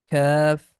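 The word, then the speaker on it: كاف: Next is Fa, Qaf, Kaf, that's the light sound, K sound, Lam, Meem, and here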